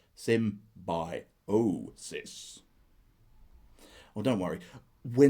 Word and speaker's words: symbiosis: It is pronounced symbiosis.